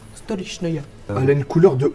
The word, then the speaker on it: Stolichnaya: Comment elle s'appelle cette vodka Parce que moi j'arrive pas à la prononcer. Steyerniauer. C'est une vodka japonaise. C'est pas mal. Non c'est la Stolichnaya. Stolichnaya.